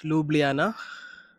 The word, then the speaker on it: Ljubljana: Ljubljana പക്ഷെ spelling LJUBJ കുറെ എല്ലും ജെ ഒക്കെ ഉണ്ട്. ബട്ട് then it's pronounced Ljubljana.